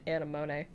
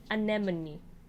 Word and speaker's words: Anemone: foreign an enemy yeah I've been saying erimone I don't know it was Anatomy anemone CDM is in the